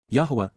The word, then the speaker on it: Yahweh: of his father's appreciation for his son's service Yahweh Yahweh the proper pronunciation of the name of eloah God as